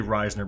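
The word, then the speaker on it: Risner: er there's a risen Errol Reisner I've been pronouncing it rising okay well we're gonna say Reisner because I we talked about it before the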